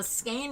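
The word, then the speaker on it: skein: Uh Skain rhymes with rain.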